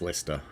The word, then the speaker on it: Leicester: Yeah, Nick B says, now pronounced Leicester.